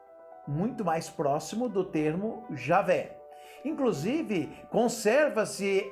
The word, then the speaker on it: Javé: estudiosos Podem trazer para mostrar que Javé é a pronúncia correta de Deus e que Jeová é uma pronúncia equivocada Com certeza do nome